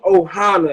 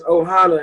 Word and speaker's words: Ohana: Yeah, so it's Team Ohana is how it's pronounced. Ohana? And yeah, it's Ohana. And so, oh man, y'all trying to make me be emotional.